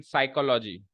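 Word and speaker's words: psychology: Second, the number of students interested in साइकोलॉजी। ये साइकोलॉजी है, ये साइकोलॉजी नहीं है, पहली बात तो। इसमें पी साइलेंट होगा।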